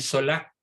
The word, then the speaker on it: Zola: sola con z sola se escribe sola se pronuncia sola como casi todas las palabras francesas que son agudas emile zola y la consecuencia para